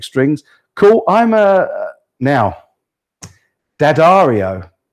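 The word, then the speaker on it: D'Addario: Roto yellow electric strings cool I'm a now dadario D daro somebody told me the other day that I pronounced it wrong when I when I was calling the strings diod Dario and it apparently it's dadario but they're the ones I use xl125s Mike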